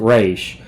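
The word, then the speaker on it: Ra's: week of Shadows until raw passed rage I don't know they pronounce it race but they call it if it's spelled like raw like the Egyptian god passed her over in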